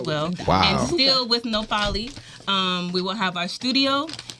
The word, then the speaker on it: Nohpalli: that H? Yeah. The H was silent. I never heard it. The H is silent.